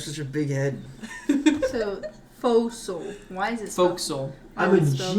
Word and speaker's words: forecastle: So, fossil. Why is it Forecastle. I'm a spelled like that?